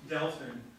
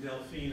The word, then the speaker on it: Delfin: true diplomatic style was well some people call me delin some people